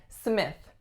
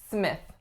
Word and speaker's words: Smith: is Smith Smith now I think there are a couple of things that might be tricky about this last name the first one is the lacks a vowel and the second one is the voiceless th Smith Smith next up